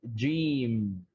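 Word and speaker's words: جيم: The first letter is Jim. Jim. Yeah, right. Jim. Okay, so we would pronounce that like J E Yeah, E M. right.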